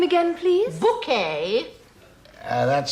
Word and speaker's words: Bouquet: Oh, bucket. It's bouquet. I'm afraid you won't be aware of very much, Mrs. Bucket. Bouquet. It's very kind of you to invite us, Mrs. Bucket. It's bouquet, Vicar. Oh, I'm sorry. Is that for me? It says bucket on the envelope. It's bouquet. B-U-C-K-E-T. Bouquet. The accent on the second syllable.